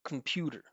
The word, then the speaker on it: computer: do when I say computer. Computer, right? Listen, listen to the Listen to the first syllable. It's just vibration, right? Soft K, strong M. The first thing most students do is this come.